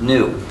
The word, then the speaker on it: GNU: for countless wordplays because according to the dictionary the g is silent and it's pronounced new so every time you